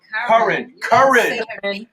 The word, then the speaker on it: Curran: Listen, man, we got whole girl Karen Bernard in the background. She's gonna come on. Curran. Yep. I said it right. Curran Bernard.